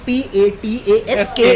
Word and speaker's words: Pataskar: इसका सरनेम का spelling PATASKAR है.